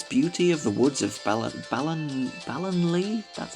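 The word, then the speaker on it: Ballonlea: Turfield, the mysterious beauty of the woods of Ballinlee? That's how it's pronounced.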